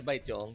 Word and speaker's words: Baetiong: How do you pronounce that? Filipino way is Baetiong, yes, Bay?